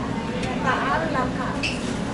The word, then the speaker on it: Ginataang Langka: Ginataang Langka.